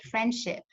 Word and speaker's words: friendship: So it's not a real word, it's just a pronunciation. Or if you have elisions, for example, you have the word friendship, but as you probably repeat this to yourself,